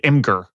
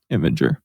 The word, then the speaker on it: Imgur: Because I always thought it would be imager, but the more I looked at it, throughout my experience on the internet, it looks like Imgur. That's how I always pronounced it, but it's supposed to be imager.